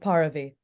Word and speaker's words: Paravi: My government issued name is pronounced Paravi, but you call me All right.